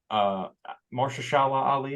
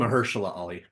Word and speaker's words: Mahershala Ali: Mahershala Ali is how you say his name. Mahershala Ali.